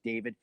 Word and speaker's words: D4vd: This is the case against the pop star David Anthony Burke, better known as David, spelled with a fork.